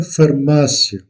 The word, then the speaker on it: farmácia: L'accent est placé sur le deuxième A ou la deuxième syllabe. Uma farmácia.